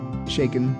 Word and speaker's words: Shaiken: say your last name shaken like shaken nuts dirt seriously that's great